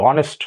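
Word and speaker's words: honest: ভালো করে বোঝো হ্যাঁ এইচ এর পরে যদি ও থাকে তাহলে আমরা তারপরে ও এন এরকম যদি থাকে তাহলে এখানে আমাদের সেখানে এইচ টা সাইলেন্ট হয়ে যাবে এইচ টা উচ্চারণ হবে না ঠিক আছে তো এখানে আমাদের এক্ষেত্রে আমাদের এইচ এর উচ্চারণ হচ্ছে ওয়া এস টা উচ্চারণ হচ্ছে না পরে ওর থেকে উচ্চারণ হচ্ছে অনেস্ট তাই না ঠিক এখানে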